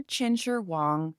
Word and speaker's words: Qin Shi Huang: my best to keep it legit with the pronunciations. So before Chin Sher Wong was emperor, actually China's first emperor, China was completely ununified and it was chaos.